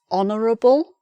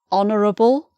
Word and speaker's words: honourable: And then finally, here's another one, a little exception, because there's an H here which is not pronounced. So the word honour, honourable, it sounds like an O. We don't pronounce the H. So it's honourable thing to do.